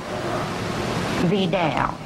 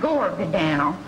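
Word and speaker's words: Vidal: stop mispronouncing your name well how do you say it V down g v down g v down not not Gore Bal Gore Bal author of that trashy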